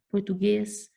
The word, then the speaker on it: português: Português. Olha o guês aqui, ó. Tá? É a última sílaba mais forte.